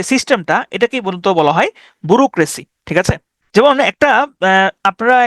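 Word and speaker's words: bureaucracy: বি ইউ বু আর ই রে বাি যেটা উচ্চারণ করে না কেন এ ইউ সি আর এ সি ওয়াই ব্যুরোক্রেসি বুরোক্রেসি মানে হচ্ছে আমলাতন্ত্র আমলাতন্ত্র মানে কি আমলাতন্ত্র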